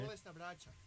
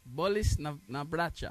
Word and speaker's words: Bolesna braća: How you say it? Sick brother. Sick brother. Yeah, okay. Bolesna braća. Bolis na braća.